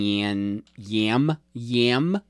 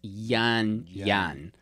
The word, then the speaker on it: Yan Yan: It's called Yan Yan. I'm sorry. I was saying. Let me top you off. Yes, please. I was saying Yan Yam Yam. It's Yan Yan.